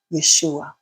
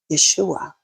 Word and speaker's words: Yeshua: Oh my goodness, the word for salvation in the ancient Hebrew is Yeshua. Hadn't I heard that before? Yeshua. That is the original pronunciation of Jesus.